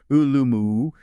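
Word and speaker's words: 饿了么: Pronounced roughly ulum, which kind of cleverly sounds like the question, are you hungry? in Chinese, right?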